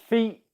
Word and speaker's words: feet: In 2 words, feet, fit, feet, fit, feet, fit, feet, fit, feet, fit, feet, fit.